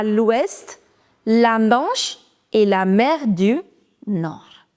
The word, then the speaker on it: Manche: La Manche, CH is ch, la Manche, et la mer du Nord.